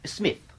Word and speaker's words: Psmith: Smith. The P is silent, as you...